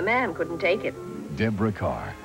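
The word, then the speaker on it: Kerr: couldn't take it Deborah Carr it still rhymes with star see more of Deborah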